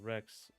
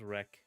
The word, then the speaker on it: Wrek: Wreck is real and pronounced Rex. Oh, no. It's It's pronounced Wreck. Wreck like train.